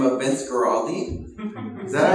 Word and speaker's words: Vince Guaraldi: A guy by the name of Vince Guaraldi.